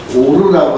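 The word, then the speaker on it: אור: 특별히 거기에서 garments of light에서 light는 히브리어로 오르라고 하는 단어입니다. 오르. 그런데 히브리어 단어 중에 오르와 발음이 유사한 단어가, 그것은 이제 호르라는 단어인데요.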